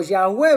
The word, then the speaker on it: Yahweh: que lleven las consonantes esa palabra se traduce o se traslitera como Yahweh verdad como Jehová verdad Pero más correcto Yahweh entonces dice en el